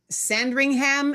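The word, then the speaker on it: Sandringham: Leah, it's pronounced Sand Ringham Estate.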